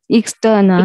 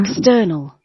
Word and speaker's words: external: yeah the second syllable the second syllable we need to uh put that space on external external okay it's your time